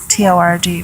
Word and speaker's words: Torg: The area that we're coming up to is called Sergel's Torg, T-O-R-G, but it's pronounced Torg.